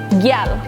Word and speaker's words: gyal: So, for example, girl is gyal.